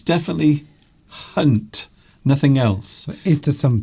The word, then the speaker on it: Jeremy Hunt: Jeremy Hunt. It's definitely Hunt.